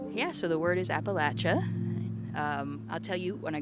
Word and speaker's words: Appalachia: Yeah, so the word is Appalachia.